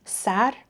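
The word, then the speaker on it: سَر: So what we'll see is this word in green, but depending on context, it can be pronounced sar, head, ser, nam, or sor, slippery.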